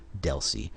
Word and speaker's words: DLCI: link connection identifier or Deli you'll see dlci almost everybody I know that I've ever heard say this pronounces as it Deli rather than sounding Out each letter of the abbreviation and the number of